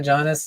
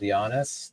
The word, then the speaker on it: Giannis: you can call it Janis it's I think traditionally it's called Giannis like the J is start with you you pronounce it with a Y but you can say